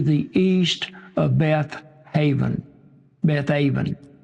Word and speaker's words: Beth Aven: Beth Aven is how you would pronounce that.